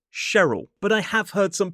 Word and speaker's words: Cheryl: But for example, this name here, most commonly, it's pronounced Cheryl, but I have heard some people say Cheryl.